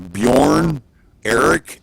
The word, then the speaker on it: Bjorn Eric: How do you say the leader of the trucks was Bjorn Eric? Is that how you say it? I believe that is correct, yes.